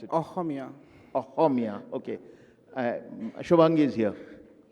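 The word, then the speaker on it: অসমীয়া: Aruni writes in both Assamese and English, or should I say Ohomia? What's the right way to pronounce it? Ohomia.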